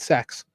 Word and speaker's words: CEX: So when you see CEX, sometimes it'll be pronounced CX or it may just be called sex.